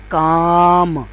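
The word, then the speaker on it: calm: तो यह बन जाएगा काम। पहला लफ्ज था पाम काम लेकिन इसमें क्या है कि यह इन स्ट्रोक्स में एल स्ट्रोक जो है वो साइलेंट है वो प्रोनाउंस नहीं हो रहा तो ऐसे अल्फाज़ जिनमें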